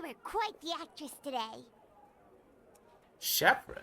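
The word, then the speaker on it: Chevreuse: Shepher is Is that how you say her name? Because I as as somebody who took French, her name should is supposed to be Chef Ruse.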